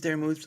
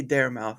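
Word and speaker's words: Darmoose: chat my name is Dar moose or Dara for short uh some people are still back at kindgarten and they say Dar mouth I'm sorry kids that's not how it's pronounced I uh I'll I'll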